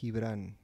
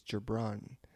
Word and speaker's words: Gibran: So my full name is, there's two ways of saying it. So the Spanish pronunciation is Gibran. But in English is Gibran.